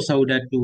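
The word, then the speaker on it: سودة: Qaulu saudatu wa ramlatu yuqra'ani bi ghairi tanwinin. Ucapan nazim saudatu ramlatu itu dibaca dengan tanpa tanwin.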